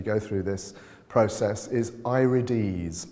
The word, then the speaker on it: irides: through this process is irides i-r-i-d-e-s it looks like i-rides but it's pronounced irides it's a latin word so what we're looking